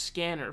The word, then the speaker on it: SCNR: Subverse's name was changed to SCNR, pronounced scanner, for several reasons.